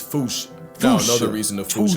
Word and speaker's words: fossa: Experts feel free to correct me, but apparently that is the closest to the OG Malagasy pronunciation.